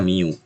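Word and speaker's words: μ: 16c ini namanya di ini dibaca Miu dibacanya yang dibacanya Miu Terus eh apa namanya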